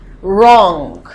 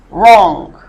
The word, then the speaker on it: wrong: The V is silent. Wrong. So the V is silent. Wrong.